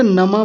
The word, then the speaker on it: नमः: नमः ये विसर्ग जो होता है ना पीछे दो बिंदी जो रखी है ये। ये नहीं बोली थी। इन्होंने नमा बोल दिया था। जबकि क्या है ये? नमाः नमाह ऐसा बोलेंगे।